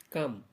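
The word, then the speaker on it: calm: এই ভিডিওটির মাধ্যমে আমি আপনাদের সামনে কয়েকটি শব্দ তুলে ধরব যেই শব্দগুলিতে এল বর্ণটি সাইলেন্ট হিসেবে ব্যবহৃত হয়েছে।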